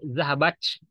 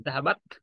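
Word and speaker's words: ذهبت: Bukan C ya. Bukan zahabach. Zahabach. Bukan C ini. Tapi zahabat. Yaitu taknya sedikit. Dibuang udaranya sedikit. Jadi alhamas sedikit. Mendesisnya kecil sekali. Zahabat. Itu cara pengucapan tak dalam bahasa Arab.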